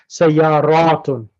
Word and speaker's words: سيارة: Sayaratun. سيارات. What does that mean? Cars. Correct. So which one would you use now for that? Is it هذه? MashaAllah. Excellent. Very good, girl. Hadihi sayaratun.